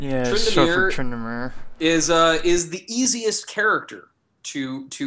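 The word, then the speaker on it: Tryndamere: And Locke, Upin says that Trinda, I think I'm pronouncing that right, Trinda? Trindamere. Yeah, Trindamere.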